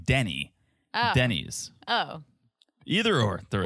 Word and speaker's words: Denny's: don't know something Denise Denny's for you who are new to the podcast and don't speak Teresa she thinks the proper pronunciation of America's Diner is Denise Denise Denise what's it differ